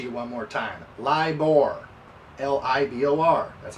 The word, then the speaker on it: LIBOR: read that to you one more time lie libor l-i-b-o-r that's how you spell it scandal could turn ugly as u.s cities